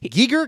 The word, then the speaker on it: Giger: And then I heard people say Giger. It's like, oh, Giger. Well, you could have listened to me years ago. Because I was right. I never listened to you. No. Sorry. Though it's spelled the same as Geiger counter. Yes. That's true. But the pronunciation was different.